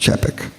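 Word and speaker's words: Capek: name was Norbert chapek it's spelled CA p e k but it's pronounced chappik he had been the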